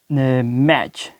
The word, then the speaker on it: match: अगर टी के बाद CH आ जाता है तो टी जो है ना वो खामोश हो जाएगा, उसकी प्रोनाउंसिएशन नहीं होगी, इसको प्रोनाउंस नहीं किया जाएगा।